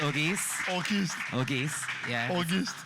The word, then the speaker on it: Auguste: it's where by the way it's okay it's pronounced orgy's orchestra yeah august it's french so ethan gave you august yeah